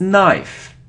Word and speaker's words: knife: knife or NE it's knife knife so we don't pronounce k so we don't pronounce k if there is so this letter N after it so knife knife like no no okay so you see